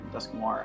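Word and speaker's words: Dusknoir: if i'm not mistaken dusk noir however the frick you say his name that's war is correct it's just noir with dusk in front of it so dust noir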